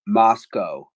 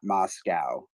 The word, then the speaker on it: Moscow: couple times I guess the locals pronounce it Moscow not Moscow um yes you're right